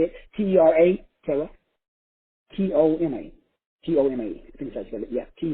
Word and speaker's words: teratoma: T-E-R-A, tera, T-O-M-A.